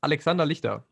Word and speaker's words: Alexander Lichter: So it's Alexander Lichter, and it's German indeed. It is German.